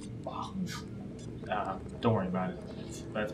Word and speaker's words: Bahls: It's pronounced Bahls.